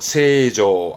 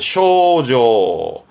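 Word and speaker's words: 清浄: 이때 발음은 세조 하다가 가끔은 쇼로 갑니다. 그래서 쇼조, 쇼조도 있습니다만 주로 세조를 봐두시면 좋겠습니다.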